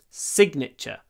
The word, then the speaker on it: signature: is signature Sig so in sign we don't pronounce the G but in signature we do signature put your signature here